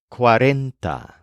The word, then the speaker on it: cuarenta: to begin with the word for 40 is quarenta this is a bit different from our word